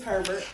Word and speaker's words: Herbert: Miss, do I pronounce it Herbert or Abear? It's Herbert. Herbert.